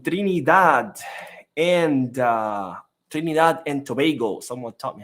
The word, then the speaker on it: Tobago: and uh trinad and Tobago someone taught me how to say it correctly because I used to say Tob uh but then someone corrected me said Tobago so Trin in Tobago